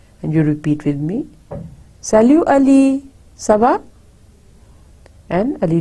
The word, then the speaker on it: salut: Again, you see the T is, we don't pronounce, it's silent. Salut. And again the intonation. Salut Ali, salut.